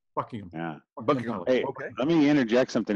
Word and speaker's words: Buckingham: Buckingham. Yeah. Buckingham.